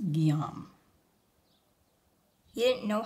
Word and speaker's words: Guillaume: Your Uncle who? Guhu Hulam. It was actually pronounced Guillaume.